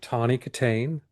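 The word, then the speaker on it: Tawny Kitaen: And the legs on the cover are the great Tony Katain. That's how you pronounce it.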